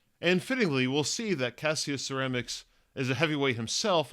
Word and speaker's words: Cassius: Also, in talking about this now, I'm realizing that I pronounce Ali's name as Cassius, but the Roman version of it as Cassius. It's spelled the exact same way, but every Cassius in Roman history is Cassius. Cassius seems like, I don't know, an Americanization or a southern accented version of the same name or something, so if you hear me using both pronunciations, Cassius is definitely for the Roman dude.